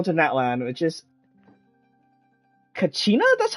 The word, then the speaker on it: Kachina: land uh go to net land which is Kachina that's how you pronounce her name looks like she's a Gil